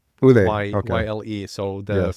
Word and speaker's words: Yle: it's a very Finnish word, Yle, Ule.